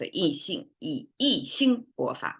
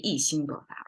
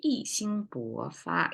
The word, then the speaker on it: 意兴勃发: Well, actually it should be 意兴勃发, right? 意兴勃发. Yes, it should be a flat tone here instead of a falling tone.